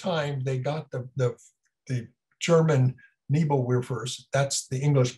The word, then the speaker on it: Nebelwerfer: Now, for the first time, they got the German Nebelwerfers, that's the English pronunciation, known as screaming Mimis.